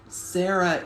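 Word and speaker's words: Cera: I always like Sarah the three-horn, but everyone knows that for a dinosaur, Sarah, it's spelled C-E-R-A, but for a human, it's S-A-R-A-H, and sometimes just S-A-R-A.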